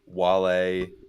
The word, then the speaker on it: Wale: who half those dudes Wale? were. How do you even spell that? Wale. Like whale, W-A-L-E, whale.